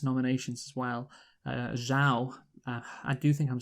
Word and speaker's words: Zhao: So this is Zhao. Yeah, that is. I get. Yeah, because I think I've heard that. Yeah, it can be pronounced Zhou. Yeah, Zhou, but this is Zhao.